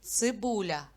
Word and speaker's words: цибуля: на скільки складів ділиться слово цибуля на три склади А на який звук падає наголос на звук у слово сонце на скільки